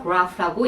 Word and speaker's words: graph: graph가 graph라고 약간 영국식 발음이 나오면서 약간 울림이 있으면서 약간 어렵게 발음이 났었어요.